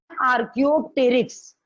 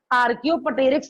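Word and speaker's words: Archaeopteryx: ये गलत प्रोनाउंसिएशन है, करने में कोई दिक्कत नहीं, आपको लर्न होना चाहिए, लेकिन जब आर्कियोप्टेरिक्स बोलोगे तो अपने आप आंसर गलत आने लगेगा, प्रोनाउंसिएशन गलत आने लगेगा। इंग्लिश बहुत हार्ड है, हम बोल नहीं पा रहे हैं इसकी। इसका नाम है आर्कियोप्टेरिक्स, आर्कियोप्टेरिक्स नहीं।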